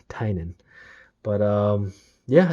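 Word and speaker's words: Tynion: the children i know a lot of people pronounce the tinian but if you look at his twitter account he basically shows that it's pronounced tainan but um yeah it's about conspiracy theories and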